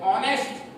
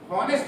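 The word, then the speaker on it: honest: अब देखिए एच एन ई एस टी है इसको हम इसका प्रोनंसिएशन करते हैं ऑनेस्ट होनेस्ट नहीं बोलते क्या बोलते हैंस्ट बोलते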